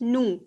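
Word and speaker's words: nous: you don't pronounce okay you don't pronounce s in the end okay it's just noo no same uh just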